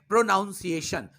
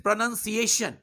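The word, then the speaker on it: pronunciation: इस शब्द को ही अधिकांश लोग गलत बोलते हैं। वो कहते हैं प्रोनाउंसिएशन। This is नॉट प्रोनाउंसिएशन, this is प्रोनाउंसिएशन।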